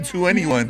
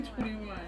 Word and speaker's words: 2NE1: I'm like, wait, is that how you pronounce it? Because I've been saying 2NE1. Yeah, it's actually 21.